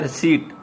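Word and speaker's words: receipt: आगे नेक्स्ट आ गया रिसीव, जिसको कहते हैं रिसीप्ट, रिसीप्ट पढ़ते हैं, इसको पी साइलेंट है, इसमें इसको कहना है रिसीट, रिसीट।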